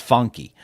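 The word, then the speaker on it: Phunky: pauny pahun nomads yes funky spelled with a pH so it looks like pahun but it's pronounced funky funky Nomads and then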